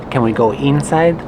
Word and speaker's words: inside: Your brain is telling you every time you see the letter I, O, E, that it's pronounced E, inside, internet, eat, right? In English, you have to change your brain. Change it. Inside, internet, it, not eat.